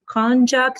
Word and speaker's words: Honjok: you got inspired for this book from the konjac tribes did i pronounce it right you did that's great because